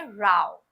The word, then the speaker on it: row: Number 2 जो pronunciation है ना, जिसे झगड़े के या आर्ग्यूमेंट के सेंस में लिया जाता है, उसे हम कहते हैं राव।